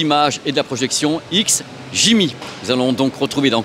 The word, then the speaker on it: XGIMI: c'est quoi alors déjà on va le prononcer x Jimmy parce que c'est pas toujours évident alors déjà merci de